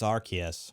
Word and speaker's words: Arceus: arceus are you supposed to know how to pronounce freaking pokemon names it's arceus see what i mean some are punts which